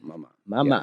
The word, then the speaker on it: Maman: Maman. Yes, that's it. My man. My man.